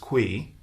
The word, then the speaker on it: Cui: to the title because my last name is spelled cui it's pronounced qui so all things cuida